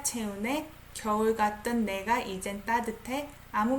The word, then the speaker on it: 따뜻해: I pronounce it as T. 따뜻해.